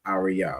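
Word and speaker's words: אריה: Each of those letters pronounced fully. So the word is arya which is lion.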